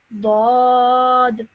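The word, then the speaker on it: ض: So this is pronounced again, heavy, thick sound. Dad, Lord.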